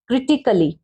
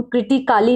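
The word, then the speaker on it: critically: हैं पढ़ सकते हैं क्रिटिकल मेंस गंभीर ठीक है इसको हम कृतिकाली नहीं बोलेंगे आगे देखते हैं साइलेंट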